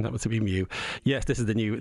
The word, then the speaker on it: mu: asking about that variant of uh interest the move variant what's the latest i'm very disappointed i thought you knew greek letters it's mew it's pronounced because it's a greek letter yeah